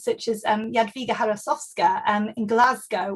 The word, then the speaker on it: Glasgow: Equally, we see editors such as Jadwiga Harasowska in Glasgow, or Glasgow, as Poles pronounced it to rhyme with Krakow.